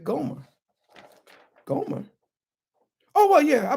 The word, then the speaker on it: Gomer: Gomer. Hebrew. Gimel Mem Resh. Pronounced Gomer.